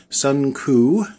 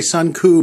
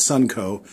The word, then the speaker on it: Suncoo: part two of the Sun ku and I say Sun ku because that's the way it's spelled it's not Sun CO it's Sun ku laser engraver and cutter